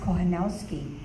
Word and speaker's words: Kochanowski: It is pronounced Kochanowski.